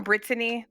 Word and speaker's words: Brittany: Emphasis on Brittany, 3 syllables.